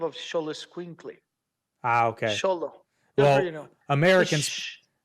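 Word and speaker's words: Xolo: it's a thetive of sholo squinkle ah okay sholo you know Americans like shut up yeah yeah SOLO Americans pronounce it Zolo I know but I'm you know he's not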